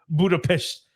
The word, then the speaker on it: Budapest: For some reason, Vic knows 0 people from this city, but yet he says that the correct way to say it is Budapest. So if you're from there, that's just what they call it.